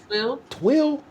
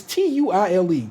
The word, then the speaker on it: tuile: Twill? But it's Tuile, twill.